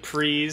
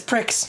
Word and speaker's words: Prix: But we're doing multiplayer, four-player Grand Prix. We're going to go through all these. That's how you pronounce that? Yeah, Prix. Are you serious? I used to pronounce it as Pricks.